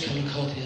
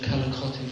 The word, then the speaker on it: Calicotti: I'm Calicotti, as John said. I'm very impressed he got the pronunciation of Calicotti right. There are many various versions of it, but that's the correct one.